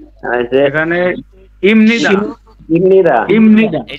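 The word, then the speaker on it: 입니다: এখানে ইমনিদা। ইমনিদা। ইমনিদা। এই যে এখানে বিয়োপের পরে মিয়ম আসছে, এজন্য বিয়োপের উচ্চারণ ম।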